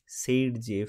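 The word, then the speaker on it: Zaitsev: তো এখানে দেখো তোমাদের একজন সায়েন্টিস্ট ছিলেন, তার নাম হচ্ছে আলেকজান্ডার জেইটজেভ। সেটাকে প্রোনাউন্স করা হয় কীভাবে? সেইডজেভ হিসেবে প্রোনাউন্স করা হয়, দাঁত মুখ ভেঙে যায় প্রোনাউন্স করতে।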